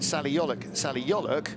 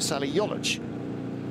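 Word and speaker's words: Yoluç: who tells me that all the years I've been calling Salih Yoluk, proper Turkish pronunciation, I should have been calling him Salih Yoluc. Right. Because it's a hard C, so he has never corrected that.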